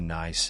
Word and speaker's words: Nice: in France we were dispatching a tour to nice and ease pronounced correctly sounds like nce and as but when it was called over